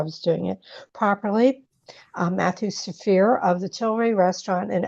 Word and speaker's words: Zafrir: Matthew Zafrir, you nailed it.